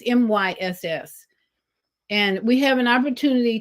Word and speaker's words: Myss: I'm not sure how to pronounce her last name. It's Myss.